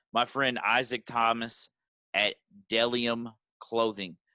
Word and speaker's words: Bdelliom: And lastly, my friend Isaac Thomas at Dellium Clothing. That's BDELLIOM, pronounced Dellium.